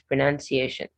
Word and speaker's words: pronunciation: So it's not pronounced. It's only in the verb you have pronounce. When it's in the noun form with a TION, it's pronunciation.